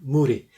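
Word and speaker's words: 無理: for you to learn muri okay what was that again yeah means impossible like like uh you pronounce it like the word moody in English Moody not d m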